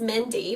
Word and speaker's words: Mendi: born in 79 and my name is Mindy but it's spelled differently but if you guys